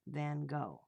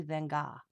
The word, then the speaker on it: Van Gogh: to know about vincent van gogh it's actually van gaal we say it wrong here in america so dawn's been asking